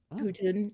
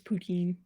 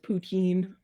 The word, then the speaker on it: poutine: it different from dirty fries like um putin is poutine it's literally it's just pronounced poutine okay okay okay okay i brought it it's